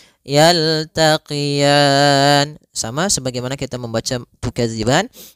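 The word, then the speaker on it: يلتقيان: marjal bahroini marjal bahraini yaltaqian kemudian pfal R ini di sini ada bacaan Lin yaitu adanya fathah bertemu dengan Ya Sukun lembut dalam melafalannya yaltaqian sama sebagaimana kita membaca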